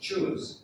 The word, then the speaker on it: shoes: Now, some people will say, "Shoe, I like your shoes. Where did you get those shoes?" No, it's shoes.